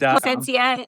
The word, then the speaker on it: Placencia: So if you ever need us, it's actually pronounced Placencia in Bise is Placencia.